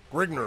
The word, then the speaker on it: Grignr: Grigner. How do you spell it?